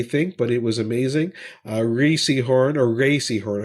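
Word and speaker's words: Rhea Seehorn: Ray Seahorn, I should say, is actually how you pronounce her name.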